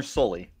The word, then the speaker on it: Soelle: Oregon fan right now how do you pronounce this guy's name correctly solely you know slowly kind of like the monster from Monsters Inc Connor Sully great first of all